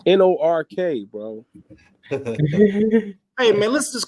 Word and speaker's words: Newark: Newark. It's Nork, bro. Hey man, listen, just because y'all pronounce stuff funky don't mean make it right.